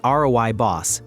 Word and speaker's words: Rooibos: Rooibos, pronounced roy-boss, comes exclusively from the Cederberg Mountains of South Africa, from a plant called Aspalathus linearis.